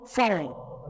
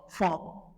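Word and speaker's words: faon: L'étudiant serait tenté de dire, on prononce fort. Non, ça se prononce fort. Là, je dis fort.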